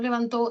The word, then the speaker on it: levantó: A nivel de sílaba, la sílaba to es la tónica en levantó la mano derecha y en levanto la sílaba tónica es van.